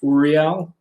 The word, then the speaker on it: Uriel: archangel of the quarter uh there is uh uriel sometimes you'll see oreo's name spelled a uh a-u-r-i-l but it's pronounced uriel and that's you know the archangel that you're